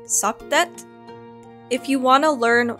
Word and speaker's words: Satet: of Sirius, the goddess, I said Sothis. And this is partially because I play too much Fire Emblem, but also that is the Greek pronunciation. The ancient Egyptian pronunciation is Satet.